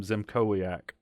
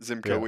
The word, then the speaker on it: Szymkowiak: It's clearly Zimkowiak. Yeah, I think you're right. That's how I would have said it. Zimkowiak. Yeah. So Zimkowiak et al. The S is silent. Yeah. Okay. Zimkowiak et al.